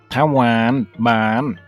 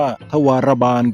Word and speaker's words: ทวารบาล: ภาษา ไทย ระดับ โลก คำ นี้ นิ มัน อ่าน ว่า ทวารบาล พี่ มัน แปล ประมาณ ว่า ผู้ รักษา ประตู เข้า ออก นิ เหรอ